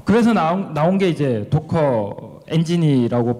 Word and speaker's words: Docker: 어 그래서 시작이 됐고요 오늘 그이이 단어를 어떻게 발음을 해야 될까 지금 계속 세미나를 듣고 있는 중에 라는 분도 있고 커라고 하시는 분도 있고 커라고 하시는 분도 있어서 저는 독일식 발음인 도커를 사용하도록 하겠습니다 여기 지금 보면 고래